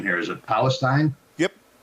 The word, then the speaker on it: Palestine: No, we ran at, I don't want to mess up the pronunciation here. Is it Palestine? Yep. Palestine.